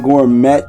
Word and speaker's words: gourmet: my brain was saying Gourmet and I know it's pronounced Gourmet. Although I swear I still want to say Gourmet cuz that T is there.